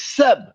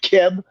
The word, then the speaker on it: Seb: And the next day belongs to the Earth, which is Seb, not Keb, not Geb, because Keb and Geb is Greek, German, and British.